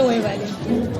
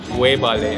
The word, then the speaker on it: Webale: You can say wevale. Wewale. Wevale. Webale. Yeah. Webale.